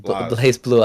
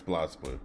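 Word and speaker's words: BlazBlue: So I keep saying Blaze. I keep saying it wrong. Blaze Blue. I mean Blas. Blast. Is it Blaze? It's Blast Blue. Blas. Okay. Blast Blue.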